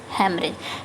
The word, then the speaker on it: hemorrhage: पहला है HEMORRHAGE, एक स्पेलिंग ये हो गई, और एक हो गई आपका बी, HEMORRHAGE, हेमरेज।